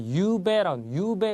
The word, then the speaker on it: ゆうべ: 자, 유배 그러면 뭐 앞에 유가 길고 뒤에 배는 짧게 한다는 거 발음에 주의하시고요.